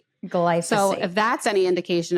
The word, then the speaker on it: glyphosate: And now we have somebody here who's going to tell us all about, am I even saying it right? Glyphosate? Glyphosate.